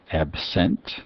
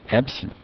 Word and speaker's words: absent: the type for instance absent as a verb absent see the stress that does consonant indicates indicates stress on the second syllable and as a adjective absent he is absent the second vow changes a little bit to a short eye it's abstract verb form